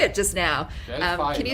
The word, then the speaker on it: Delphi: Delphi, can you right? say it one? It's Delphi.